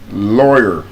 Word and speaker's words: lawyer: example is not loyal. Lawyer is not loyal.